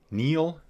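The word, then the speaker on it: Niel: Uh from Neil in Belgium. Place is called Neil as in Neil Armstrong. That's how I was told to pronounce it.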